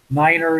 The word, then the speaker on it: niner: can make a difference niner you know it's nine uh tree for three five for five this